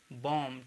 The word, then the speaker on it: bomb: जैसे कि ये लिखा हुआ है BOMB, ठीक है, तो B यहाँ पे साइलेंट रहेगा, और B जब साइलेंट रहेगा यहाँ पे तो इसको हम बॉम्ब नहीं पढ़ेंगे, ठीक है, इसको हम पढ़ेंगे बॉम्ब, ठीक है, बॉम्ब का मतलब बम।